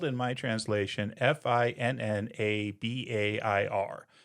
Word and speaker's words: Finnabair: So, it's spelled in my translation F I N N A B A I R. So, Finnabair, or if you do the v with the b like it says I'm supposed to, Finnavair, who is supposed to